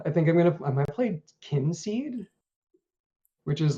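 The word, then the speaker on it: Kynseed: It's called Kinseed. Kinseed, but Yeah, kin is spelled with KY. a Y. Yeah, KYN seed.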